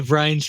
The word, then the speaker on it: Vranes: We've hit the record button and we're going today with Peter Vranes from Nutromics. Hopefully I've put the right emphasis on the right syllable with that particular part of the name.